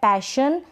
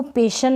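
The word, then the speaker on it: passion: Tension, next है suspension, फिर है पैशन, इसको पेशन ना पढ़ें, पैशन।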